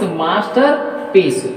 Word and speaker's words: masterpiece: So that stress is on their first syllable.